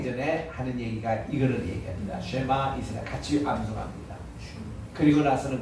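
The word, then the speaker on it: שמע: 그러니까 쉐마보다는 조금 약하게 발음을 하세요. 여기 이제 맞는 말입니다. 그리고 액센트가 두 문제 있습니다. 쉐마가 아니라 쉐마입니다. 따라합시다.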